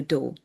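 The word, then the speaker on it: Dow: They're called the do. The do is the name of their space species. D O W pronunciation.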